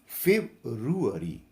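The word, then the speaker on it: February: अनवरूल school पड़ते हैं जबकि सही उच्चारण या प्रनंसीएशन होता है फेव्रुअरी फेव्रुअरी फेव्रुअरी झारखंड गठन के सामने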